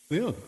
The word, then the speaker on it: Leong: Leong. How do you pronounce it? What's the proper pronunciation of your last name? Leong.